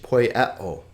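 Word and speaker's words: ποιέω: It's 1 consonant and 3 vowel sounds, 3 syllables. This is typical of Greek. I told you that it's a very vowel-rich language. Poieo, poieo.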